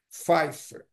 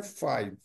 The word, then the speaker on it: five: rádiia é pronunciado como Fifer, tá? E o nove ner ner. Lembra que o no coloquial o número cinco é five e o e o nove nine. Para diferenciar as duas os